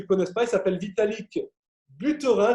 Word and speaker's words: Vitalik Buterin: Alors le créateur, pour ceux qui ne le connaissent pas, il s'appelle Vitalik Buterin, je le prononce à la française, hein, c'est un russo-canadien.